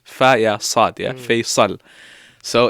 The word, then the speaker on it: Faisal: So for example, like Faisal, So everyone pronounces it with a Z, like Faisal, Faisal. But no one really says Faisal.